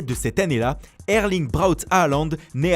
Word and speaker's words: Haaland: Quoi qu'il en soit, Erling Braut Haaland, prononcé Hollande en norvégien, ne laisse personne indifférent.